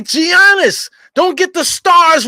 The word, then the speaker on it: Giannis: down his shots knocking down the easy buckets Giannis pulls up at the basically the foul line